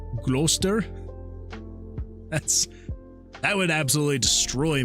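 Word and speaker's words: Gloucester: uh pronounced rooster and GL glue how you pronounce it gler that's that would absolutely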